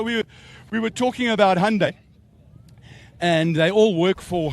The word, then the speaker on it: Hyundai: Interesting fact um Hyundai they and it's pronounced just like Sunday but Hyundai they actually all from Hyundai South Africa.